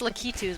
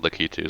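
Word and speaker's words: Lakitu: I've never heard it pronounced Litus before. I've always pronounced it litus. No, I pronounced it lacatu my whole life, but and then Ryan started calling it Litu and now I go. Well, that's how they pronounce it in the sports and racing games and stuff. So, I guess they Yeah, whenever they whenever they've pronounced his name for anything, it's always been Litu.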